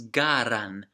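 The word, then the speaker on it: Galand: we're here it appears gallon is garden not gallon once again a mispronouncing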